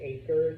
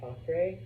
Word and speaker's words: Acre: Um, I always said acre. The city is pronounced Ara.